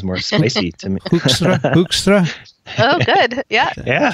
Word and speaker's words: Hoekstra: Hoekstra. Hoekstra. Yeah. I mean, I think you should go for the Dutch. That sounds more spicy to me. Hoekstra?